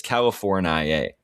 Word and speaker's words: California: someone said, "Where did this pronunciation of California with the final syllable stretched out and include the long I and long A sounds originate?